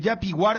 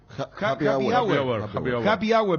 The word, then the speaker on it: happy hour: artistas como chapac eh jappy War esto así se pronuncia happy hour Perdón happy hour y F Food tracks